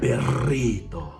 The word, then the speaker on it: Perrito: And something that was mentioned tonight was the dog character, Perrito. Am I saying that correctly? You gotta roll your R a little bit. Okay, go for it. Perrito.